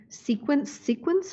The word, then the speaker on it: CQNS: So just sequence, or because I know they have those crazy letters. So what's the official name of the company? So the official name is CQNS, whatever, but it's pronounced Sequence.